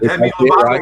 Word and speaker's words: Demi Lovato: You said it right. You said Demi Lovato right.